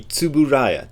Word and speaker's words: Tsuburaya: for Tsuburaya productions and that TSU is sometimes a big problem for people but just imagine like if somebody asks you if you're taking a lifter and uber you say it's uber so that super super it's uber so just forget the ear and then subbu so to boo Raya and again the rah